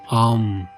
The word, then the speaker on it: AUM: En sánscrito el sonido O es la unión de la letra A más la letra U, por lo tanto sería más correcto Om.